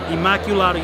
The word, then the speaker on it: Immaculata: you can go to Immaculata and do not pronounce it wrong because it is Immaculata universe we are here in front New York